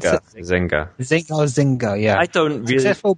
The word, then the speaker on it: Zynga: Or is that how you pronounce it? Zynga. Zynga, yeah.